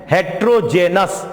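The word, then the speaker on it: heterogeneous: और मैं उच्चारण कर देता हूं, हेट्रोजेनस, हेट्रोजेनस, लेकिन हेटेरोजेनस, हेटेरोजेनस, हेटेरोजेनस।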